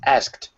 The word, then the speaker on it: asked: I've got a question about the word asked, because I heard sometimes that someone, speak it like asked. Yes. There are some people who do it, but most people do not. Most of the people pronounce it, they skip over the K.